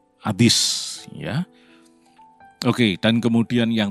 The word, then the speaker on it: Hades: tempat penahanan yang bernama Adis atau Seul dalam bahasa Ibrani dalam bahasa yunaninya Adis yang orang awam kenal sebagai Hades t sebetulnya pengucapan yang tepat adalah hadis ya oke dan kemudian